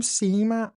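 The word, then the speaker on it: CMAT: I was like and she was like, "I'm Sema." And I was like, "That's how you pronounce it?" and doing a little Wikipedia, doing a bit of, you know, a bit of research earlier today. And actually, it's her initials of her name, Sema.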